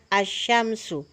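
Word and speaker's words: الشمس: Tapi ketika kita membacanya, yang kita baca hanya asyamsu. Sedangkan alif lamnya tidak dibaca sedikit pun.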